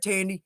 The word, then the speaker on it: Tandy: I started with Tandy Tools, as have so many on here have. Yeah. And again, there are competition. I typically say rhymes with candy, right?